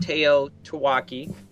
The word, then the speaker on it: TEOTWAWKI: as we know it people pronounce it Teo taaki MH and exactly what